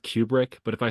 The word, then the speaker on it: Kubrick: Apparently it's pronounced Kubrick, but if I say that, I'm gonna get beat up.